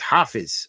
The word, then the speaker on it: Hafiz: How do we pronounce the name of someone who memorized the Quran? Hafiz or Hafiz? It is Hafiz. Okay, Hafiz.